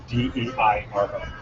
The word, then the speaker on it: Deiro: So yesterday I had an interview with Guido Deiro. Okay. D-E-I-R-O. Okay. But it's 2 syllables. Deiro.